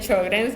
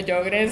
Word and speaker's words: Sjögren: De hecho, hay hasta disputas hasta cómo pronunciarlo, ¿verdad? La doctora le dice Sjögren's, yo le digo Sjögren's, ¿verdad? Es un término de otro país.